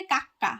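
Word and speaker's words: 까까: এখানে কিন্তু খর উচ্চারণ হয়েছে এটা, অথবা এখানে কয় ক উচ্চারণ করলেও এটা ভুল হবে না, কা এটা হচ্ছে কা কাক্কা কাক্কা।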